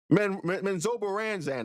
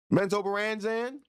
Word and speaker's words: Menzoberranzan: Menzoberranzan is how I pronounce it.